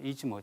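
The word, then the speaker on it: 出雲: 스사노가 일본 열도와 관련을 맺는 지역은 이지모 지역입니다 이즈모 지역 요게 어 우리가 지금 현재 일본의 그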